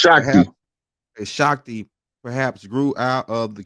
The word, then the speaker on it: Shakti: she she you say her name shaki it's pronounced shaki Shakti perhaps grew out of the conflict and eventually